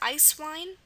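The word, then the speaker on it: Eiswein: way another example is ice wine now this sounds like two English words i c e ice and w i n e wine and that's what it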